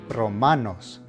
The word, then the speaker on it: Romanos: letter N or S, the emphasis is going to be on the penultimate syllable, the second to last syllable.